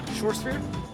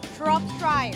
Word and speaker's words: Shropshire: Shortsphere? Shropshire. Can you pronounce this name right there?